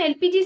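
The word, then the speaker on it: LPG: ये एल की प्रोनन्सिएशन मैं कैसे कर रही हूं? एल। क्योंकि एल की प्रोनंसिएशन ऐसे हो रही है कि एक ऐसे वोवेल वाला जो इफेक्ट आ रहा है मतलब इ या फिर ए ऐसा जो इफेक्ट आ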